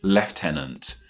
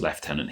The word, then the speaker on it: lieutenant: One that is spelled L I E U T E N A N T. In American English, this one is simply pronounced as lieutenant, while in British English, we go with left tenant.